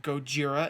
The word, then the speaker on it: Gojira: the 1954 Godzilla called Gojira and Japanese Godzilla was a u.s. mispronunciation it was American mispronunciation and misspelling Gojira is goj IRA and it loosely translates